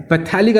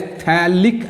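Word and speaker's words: phthalic: पैथेलिक acid नहीं बोलते इसको, पीएच साइलेंट रहता है. इट is called as थैलिक acid.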